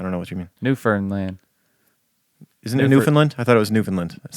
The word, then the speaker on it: Newfoundland: Uh, you say it like understand Newfoundland. You say it like Newfoundland, right? You say it like understand. I don't know what you mean. Newfernland.